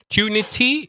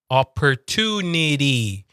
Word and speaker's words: opportunity: Tunity is British. Opportunity. It's the whole D sound again. Opportunity, but it's a very like low D. It's not like a strong D.